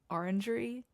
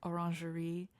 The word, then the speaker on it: orangery: I say orangery, but like if in French it's like orangerie.